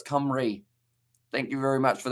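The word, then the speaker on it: Cymru: into first place and it's pronounced uh kamri i'm serious my uh source is a welshman okay so it's kamri thank you very much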